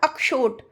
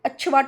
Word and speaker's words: अक्षोट: अभी मैंने बोला ना अक्षोट, सब अच्छोट बोल के चले जाते हैं तो वो गलत है। ठीक है, अच्छवाट बोल के चले जाते हैं वो भी गलत है, यानी अक्षवाट अक्षोट।